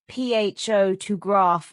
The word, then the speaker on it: photograph: The stress moves to different syllables, changing the rhythm. Oh, I see. PHO to graph versus pho-to grapher.